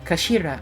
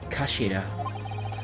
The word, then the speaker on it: Kashira: It's written as head in Japanese, but it's pronounced as Kashira, I believe. Kashira.